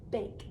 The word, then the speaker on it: bake: e at the end if i put an e at the end of this it will make the a say its name right now this says we like to back i don't want to say back cookies i need to put a silent e to make it say bake the e makes the